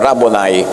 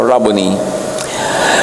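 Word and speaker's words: rabboni: Yung mga Amerikano sabi nila, "Rabonai." Pero that's an Americanized pronunciation. A Hebrew word. Walang long eye. So Rubony.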